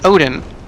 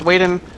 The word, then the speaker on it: Odin: getting into is generally considered to be Odin which I still insist should be pronounced waen but whatever okay go